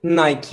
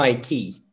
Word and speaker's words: Nike: knight pero en concreto su pronunciación correcta sería nike y no haití así que vamos a